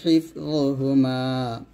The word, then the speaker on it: حفظهما: হিফ য পেশ য এখানে যটা মোটা করতে হবে য পেশ য এরকম এই জ যখন উচ্চারণ করবেন একটু সাবধানে থাকবেন যেন জটা জাল না হয়ে যায় ওয়ালা ইয়াউদুহু হিফযুহুমা ওয়া হুয়াল আলিয়্যুল আযীম